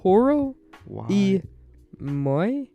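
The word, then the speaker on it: Toro y Moi: Featuring Toro E. Moy. Toro E. No, it's Y, yeah, but in Spanish that's pronounced E.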